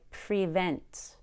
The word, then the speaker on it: prevent: I don't say prevent we don't need to be that clear on pre again we need to learn how to relax pre becomes pro we change that long e to a schwa or a short u it's the most